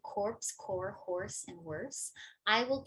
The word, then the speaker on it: Corps: And in the case of corpse and core, which even native speakers often mispronounce, so this core is often mispronounced as corpse by native speakers, as in, let's say, the Peace Corps.